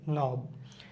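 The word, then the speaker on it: know: নো, নো, নো। কে এবং এন একসাথে থাকলে উচ্চারণটা হবে না।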